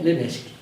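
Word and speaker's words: Lévesque: Es el mismo apellido que del primer ministro René Leveski. La única diferencia es el acento agudo en la primera letra E, pero se pronuncia igual.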